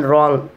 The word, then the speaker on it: wrong: First one, W is not pronounced at the beginning of a word when it is before the letter R.